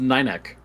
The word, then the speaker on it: Ninneke: Oh, it's pronounced Ninek. Ninek? Oh. Ninek. Yeah. I like that. Namek? Ninek. That's how you pronounce that's how you pronounce her name.